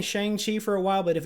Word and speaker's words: Shang-Chi: We got an update on the production of Shang-Chi and the Legend of the Ten Rings. That's how Kevin Feige was pronouncing it. I'm going to assume that's correct. We've all been saying Shang-Chi for a while, but if it's truly Shang-Chi,